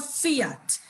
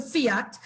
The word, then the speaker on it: fiat: because you probably hear the word fiat to me it's it rhymes with liat so i think air